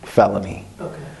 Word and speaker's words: Feloney: was considered a felony so they named me felony and it's spelled different f-e-l-o-n-e-y um well it's actually